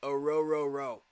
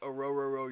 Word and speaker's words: Rororo: And by the way, if you're going to say Ruka Rororo's name right, you got to say it Arororo, like Arororo your boat.